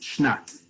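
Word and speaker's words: שנת: just a bit into the hey turns into a taf so the way you pronounce it is shnat so those of you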